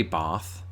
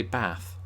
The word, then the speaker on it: bath: is is heartbreaking um i don't say bath i say bath but i imagine to